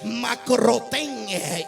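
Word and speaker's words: μακρόθεν: Pedro, la Biblia describe que seguía al maestro de lejos, que es la palabra griega que se pronuncia macrotén.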